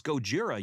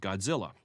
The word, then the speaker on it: Gojira: and grumbling gojira it's gojira you idiot i need to explain myself there is no difference between the titles gojira and godzilla japanese is written using